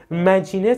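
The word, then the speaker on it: Maginot: دیوار مارجینال یا مگنیتو فرانسوی بهش میگن بذارین تلفظش اینجا نوشتم مجین هم توی فرانسوی به این دیوار می‌گفتن مارجینال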